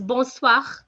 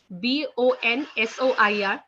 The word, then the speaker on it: bonsoir: you should know okay so next one is bonsoir okay b-o-n-s-o-i-r that's bonsoir okay guys which means good evening